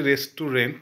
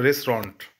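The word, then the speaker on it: restaurant: বলতে আজকে প্রথম গেলাম একচুয়ালি আমরা বাংলাতে বলি রেস্ট টু রেন্ট actually pronunciation সঠিক বলতে হয় রেস্টুরেন্ট ও সরি ঠিক আছে আমরা বাঙালি সবই ভুল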